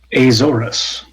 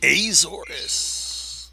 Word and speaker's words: Azorus: So that is how do you pronounce your character's name, Taylor? I was pronouncing it Azorus. Azorus.